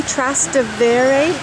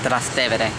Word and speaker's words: Trastevere: We are in, how do you pronounce it, Benjamin? Trastevere? No, Trastevere.